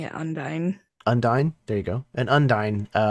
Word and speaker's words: Undine: Is it Undine? Undine? I've been pronouncing it Undine. Undine?